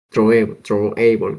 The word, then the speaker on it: throwable: Así que la clase base en la arquitectura de las excepciones es throwable, como se pronuncia. Se pronuncia así. Throwable.